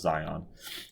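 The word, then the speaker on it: Zajonc: Even though he was important in this, it was really Zion. This guy's name is pronounced Zion.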